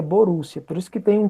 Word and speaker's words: Borussia: reino da Prússia né é Prússia em alemão se pronuncia Borussia por isso que tem